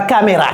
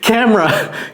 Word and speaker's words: camera: Ce n'est pas caméra. Caméra. Let me see your camera. Non, c'est camera. Camera. Donc il y a le e. Camera comme banana camera.